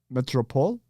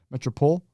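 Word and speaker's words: Métropole: It literally just looks like Gaiman, but Gaiman, Rouen, Metropole, because they wouldn't pronounce the E at the end. Metropole, 4v4 LAN.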